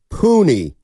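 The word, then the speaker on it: Puni: you're being uh honest 510 says it's pronounced puny it's an Islander name puny thank you very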